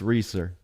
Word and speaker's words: Resor: in holding it back how do you pronounce your last name it's reer there you go Ben that's right we we